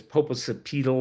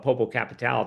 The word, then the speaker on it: Popocatépetl: I think it's Popocatépetl or I call it Popocatal. That's not right.